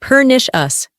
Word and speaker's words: pernicious: a more serious word pernicious pronounced perish us this word refers to